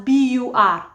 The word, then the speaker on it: bur: the LA of bazal spell it as B Ur B that's just how I pronounce it bur because there's no Ru Buu there's not there's none of that and I think um